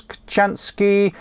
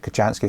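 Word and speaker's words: Kochanski: Kirtley, I remember Morse Kachansky once claiming that you can overdo layering your clothes by wearing more than 5 layers for insulative purposes.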